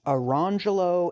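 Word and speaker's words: Orangejello: lemon jello also black whose parents further dignified their choice by instituting the pronunciations arangelo and Le manjulo now that first one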